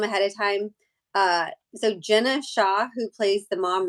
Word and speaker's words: Jenna: of time uh so Jenna Shaw who plays the mom Rachel her name looks like it's spelled like Gina is Jenna g-e-n-a Shaw and she plays